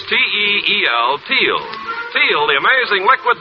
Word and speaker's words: Teel: And remember, for laughs, it's R-I-L-E-Y, Riley, and for lovely smiles, it's T-E-E-L, Teel.